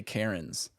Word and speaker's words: Cairns: Cairns is spelled Cairns. So I was like, how do I get to Karen's? Yeah, it's Karen.